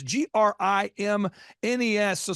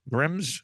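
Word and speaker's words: Grimes: your last name it's g r i m so someone's going grimness Grims Grim you got it the first time if you add s you will pronounce it correctly yeah so think of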